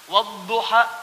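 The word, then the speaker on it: وَالضُّحَىٰ: Bacanya A. Saya pernah bacakan pada orang Afrika yang biasa baca pakai e. Dia pakai e. Saya baca pakai A. Wadduha sama kayak itu tuh.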